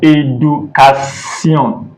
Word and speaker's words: éducation: So whenever you see this one that goes to right, it's pronounced as A in English. So e.g., écrivez, écrivez. Then éducation, éducation.